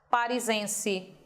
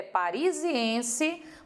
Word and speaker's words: parisiense: Tente tirar essa vogal de ligação daí. Como é que ficaria a pronúncia dessa palavra? Parisense. E não é a pronúncia correta. A pronúncia correta é parisiense, porque ela melhorou a pronúncia. Esse I melhora a eufonia da palavra.